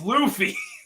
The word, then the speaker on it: Luffy: the way that she pronounced that Luffy? one particular. Ugh. What is it supposed Luffy? to be? It's Luffy.